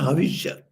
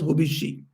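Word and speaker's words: हविष्य: Hovishi means a havishya. In Sanskrit, it's called havishya. Havishya annam. So this havishya in Bangla it is pronounced as hobishi.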